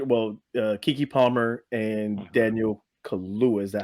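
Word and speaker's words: Kaluuya: two main character well Kiki Palmer and Daniel Kula is that how you say his name right Y close Kula yep Kula their characters are um their ancestry is part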